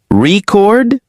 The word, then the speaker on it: record: Record. Good. Record is a noun like a music record or a world record. And if I say record, then it's a verb.